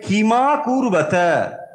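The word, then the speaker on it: किमकुर्वत: পান্ডবাস চৈব কিমা কুরবতা যখন আপনি পড়বেন আসলে ভাঙলে হবে কিম আকুরবাতা কিন্তু যখন সন্ধি করে আপনি পড়ছেন তখন পড়তে হবে কিমা কুরবতা এখানে অটা ম টা মানে পরিষ্কার উচ্চারণ হবে মটা ওখানে কিম বলে ছেড়ে দিলে কিন্তু ভুল হবে তাহলে কিমা কুর্বতা মানে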